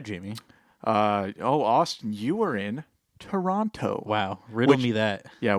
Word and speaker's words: Toronto: it's like I say Toronto. I think people from Canada often say Toronto as opposed to Toronto. I notice people in the States say Toronto and they pronounce the T a lot more.